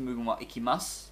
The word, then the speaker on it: Mugen-Wa-Ikimasu: The U is silent, so it's just Mugen-Wa-Ikimasu, but there is a U on it.